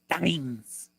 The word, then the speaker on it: Steins: I believe the correct pronunciation is Steins. Okay, got it.